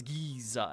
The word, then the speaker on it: Giza: okay it's Giza Giza well Giza but you extend the syllable so it's Giza and that's how we